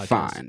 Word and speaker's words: Deafine: Define. So that's how you spelled, pronounce it, right? Because he's saying Deafine. Yeah, it's originally the word is Define. It's define, but I put an A in it for you know my story.